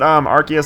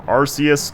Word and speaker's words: Arceus: now I know that Arceus has several pronunciations for his name ranging from Arceus to Arceus I used to call